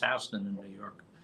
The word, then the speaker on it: Houston: they look at the sign they go oh Houston Street it's pronounced Houston in New York spelled the same but that's